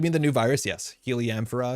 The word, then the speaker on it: Heliamphora: Heliamphora is probably how you pronounce it. I say Heliumphora. Pronunciation guide, thank you. But yeah, it sounds like Helium 4, which is an older card.